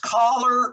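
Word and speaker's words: choler: figure out what the i guess it's kohler pronounced collar or collar right according to the what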